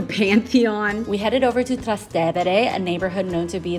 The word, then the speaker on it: Trastevere: Our guide drilled it into our heads and made us repeat after her, and that it is pronounced Trastevere, not Trastevere.